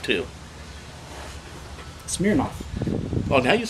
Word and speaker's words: Smirnoff: because of the way he likes to say Smirnoff, too. Smirnoff.